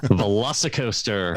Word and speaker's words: VelociCoaster: Velocicoaster? Velocicoaster. That's got to be a must-do right there. you combine a Velociraptor and a roller coaster, you get a Velocicoaster.